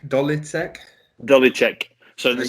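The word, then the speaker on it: Ďolíček: their stadium the the dolly sec dolly sec dolly check so the c the c with like the the hook on the top it's pronounced like like ch like sure which is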